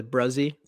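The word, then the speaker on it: Bresee: than Brian Brit was bruzzy is how you pronounce it yeah who do you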